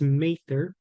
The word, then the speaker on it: Mather: It's bounded to the south by Mather Avenue, and I want to emphasize that that is the correct way to pronounce it. It's not Mather, it's Mather.